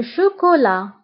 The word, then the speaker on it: chocolat: شوكولاتة le chocolat. Le chocolat. Le chocolat. فانتبهوا بالنسبة لو شوكولات كنكتبوها بالتاء آخر الكلمة ولكن لا ننطقها.